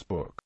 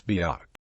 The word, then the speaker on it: book: As an example of the differences, in the softer South County Durham, where side the English book is pronounced buke, in Geordie it becomes book, while in the Northumbrian it is biuck.